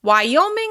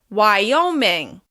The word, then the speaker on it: Wyoming: Wyoming is stressed on the second syllable. Wyoming. Wyoming.